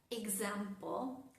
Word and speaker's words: example: Las palabras que empiezan con e x, pero que tienen su acento, la fuerza de la palabra en la sílaba siguiente suenan ga. Por ejemplo, las palabras example. Example. Fíjense que no es example, no, no, no. Es example. Example. Con una Z fuerte. Example.